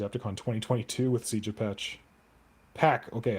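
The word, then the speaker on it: Pech: We might be going to Adepticon 2022 with Siege of Patch. Pack. Okay, I think it's supposed to be Pack, but I hate Pack. It's spelled P-E-C-H. It should be Patch.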